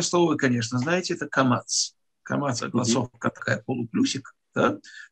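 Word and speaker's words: קמץ: А «камац» произносится, немного сжав губы. Поэтому это «а», которое немного ближе к «о».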